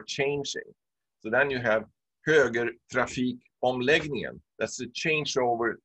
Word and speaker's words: höger: You really pronounce the R. So you say höger trafik omläggningen.